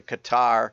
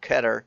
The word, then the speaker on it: Qatar: the hypocrisy of the Qatar or Qatar depending on how you say it um World Cup